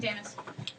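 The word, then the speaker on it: Jameis: say it because I wasn't sure if it's jamus or Jam because it's jamus it's jamus jamus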